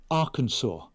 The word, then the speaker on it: Arkansas: And they said, you say it, Arkansas. And I said, but it's spelled Arkansas. I didn't know Arkansas was spelt as Anyway, so I didn't get that role.